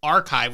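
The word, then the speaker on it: arXiv: actually submitted this paper to archive which is spelt a-r-x-i-v back in 2019.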